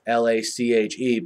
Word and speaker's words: Lache: It's Lake. I know it's Lache, but it's pronounced Lake. Lache Seastrunk from Baylor.